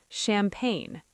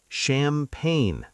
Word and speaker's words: champagne: Champagne. Ooh, fancy. C H A M P A G N E. Champagne. The G is silent and honestly so is the E.